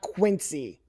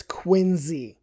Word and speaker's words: Quincy: It's not quincy. It's qu. The C is pronounced like a Z. Why? I could not tell you. No one has ever explained that to me. But it's quinzy, trust me.